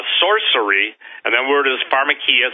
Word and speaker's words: pharmakeia: and then weird as pharmakeia some people pronounce that for machi but pharmakeia in other words they're